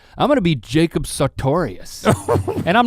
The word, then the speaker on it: Sartorius: Sagittarius? Sartorius.